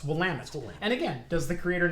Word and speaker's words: Willamette: or something like that try to pronounce Willamette. Willamette or something like that. It's like no, it's Willamette.